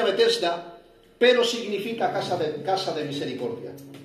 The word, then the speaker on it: Betesda: En hebreo se pronuncia Betesda, pero significa casa de misericordia.